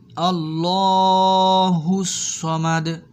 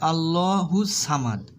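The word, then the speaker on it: ٱللَّهُ ٱلصَّمَدُ: আল্লাহুস সামাদ। অনেকে বলে আল্লাহু সামাদ।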